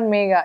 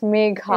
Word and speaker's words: Megha: Actually, yeah, it's not Megha, it's Megha. It's either Megha, Megha, I mean, nobody says Megha, actually.